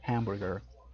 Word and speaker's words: hamburger: En español es completamente muda, pero en inglés sí hay varias palabras donde la H sí suena. Entonces sí hay una ligera pronunciación de hamburger, hamburger, hamburger.